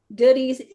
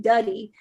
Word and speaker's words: Doody's: I keep trying to say it because my husband laughs because I always kept saying Duddy, because to me it looks like it's spelled Duddy, but he said Doody, and I believe that is a nickname that they call his dad.